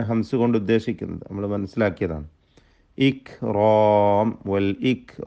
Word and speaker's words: الإكرام: വൽ ഇക്റാം, വൽ ഇക്റാം, ഇക്റാം എന്ന ശബ്ദം ചലിപ്പിക്കരുത്. ഇക്റാം എന്ന് തീരെ കാഫിനെ കേൾപ്പിക്കാതെ അതിൻ്റെ ഹംസ് പോക്കിക്കൊണ്ട് ഉച്ചരിക്കരുത്, ഹംസ് വേണം.